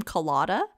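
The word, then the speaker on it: Kolyada: in a previous episode they pronounced his name colada uh so mikhail and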